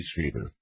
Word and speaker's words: Strieber: Strieber. Whitley Strieber. Look, I really need to talk to him if he can't even pronounce my name. I'm sorry. Well, try it. Say Strieber, and I'll answer.